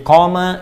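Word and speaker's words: قام: Jadi qama yaqumu. Qama. Ingat, koma. Ya, bukan titik. Dan koma, panjang bacanya.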